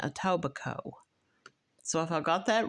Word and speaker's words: Etobicoke: right aoba Co or aoba Coke it's spelled c k e but when I listened to the word on the YouTube channel that I was researching they were pronouncing it a toico so if I got